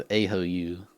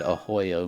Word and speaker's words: Ahoyo: He used to spell his name with 2 O's, but people kept saying it wrong. I thought his name was Ahoyu. So he changed it to have 1 O to be hopefully said Ahoyo more often.